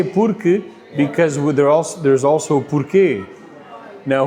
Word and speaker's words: porque: Or it's not, I know there's a U there, but it's k.